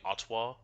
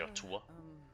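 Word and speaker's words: Atua: those who believe again I keep pronouncing it atwa I need to say ATA Ka I know you're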